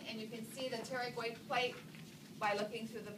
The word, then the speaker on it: pterygoid: fingers okay and so the p is silent p t e r y g o i d pterodact the pterygoid so